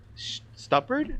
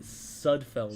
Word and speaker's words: Sudfeld: Well, he put in Stuppard. How do you pronounce his name? Nate Sudfeld.